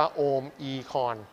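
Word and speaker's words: Omicron: ถูก ต้อง จาก กรีก เลย เนี่ย อ่าน ว่า โอม e-con พระ โอ มี การ อ่าน โดย เร็ว จะ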